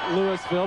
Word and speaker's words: Louisville: Louisville spelled like Louisville, but Southern fans know that it's pronounced Louisville because Ernest Thompson, a prominent running back, hailed from Louisville, Georgia.